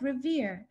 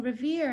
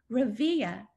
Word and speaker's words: Revere: In the locker room, Mari had overheard some girls pronouncing Revere as Revia in order to amuse one another.